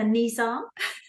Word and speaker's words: Nissan: sorry did you just call a niss a Nissan yeah that's that's how we say here I say we emphasize the exact opposite like syllables it's a niss don't know what to tell